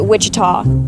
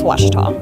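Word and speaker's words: Ouachita: for was Baptist University back in Texas everybody pronounces it Witchita but really it's wasita wash wash how would you pronounce it wash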